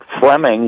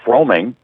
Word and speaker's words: Fleming: you guys know that if a person has a last name with 2 vowels back-to-back, that very often the first vowel is silent. For example, Bruce Fleming was a major league umpire, and for years people called him Bruce Froeming, but it was Fleming, because it was Froeming.